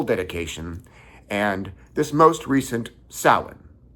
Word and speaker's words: Samhain: and this most recent sin. Sin spelled like Sam Hayne is an ancient pagan holiday.